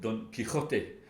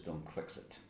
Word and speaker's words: Don Quixote: The book in Spanish is called Don Quixote, and in English is Don Quixote.